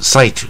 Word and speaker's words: cite: c 有的念 k 啊，搞不好有念成 kit 啊，I 不是一般念 E 吗？